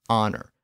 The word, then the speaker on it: honor: The problem was that silent H, which English had inherited from French in words like honor, honest, hour, and herb.